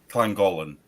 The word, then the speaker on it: Llangollen: Llangollen. See, that's So just double not L. how words are supposed to be. Double L is pronounced like cl. So But it's Llangollen.